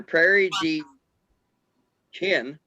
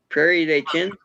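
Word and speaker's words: Prairie du Chien: the mississippi river near prairie d chin i guess that's how you'd pronounce it d-h-i-e-n prairie day chin got me wisconsin anyway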